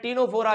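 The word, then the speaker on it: Ctenophora: है अगला आता है टीनो फोरा यहां पर भी सी साइलेंट है भाई अगला आता है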